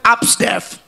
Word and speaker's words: Absdef: ABC itu bacanya abs. Jadi kalau A sampai F bacanya absdef. Absdef.